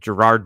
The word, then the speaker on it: Jerod: Jerod Mayo is the head coach of the Patriots, if you know. I have another topic. I think people should pronounce names correctly. There's no R before the D.